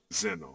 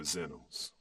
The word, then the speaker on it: Xenos: I know it's a Greek word, Xenos. Yeah. It's where we get xenophobia from. But I was going to ask you about, because there's a couple meanings to Xenos.